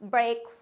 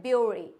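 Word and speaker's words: bury: चलिए आगे बढ़ते हैं अब आता है ब्यूरी इसको हम ब्यूरी पढ़ते हैं बट जो भी ब्यूरी पढ़ता है यह ब्यूरी गलत होता है हम इसको पढ़ेंगे इट्स बेरी क्या होता है एट्स बेरी अगर आप भी अपनी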